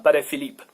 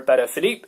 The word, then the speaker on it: Patek Philippe: The first one, Patek, comes from, I guess it's a Polish name, so I don't know how to pronounce it in Polish. Patek, whatever. And the second part is a French family name, so it's Philippe.